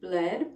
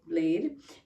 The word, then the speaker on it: Bled: Most of my time was spent in what the Americans would say is bled, but I now know it's pronounced more like blade, which is much better than bled.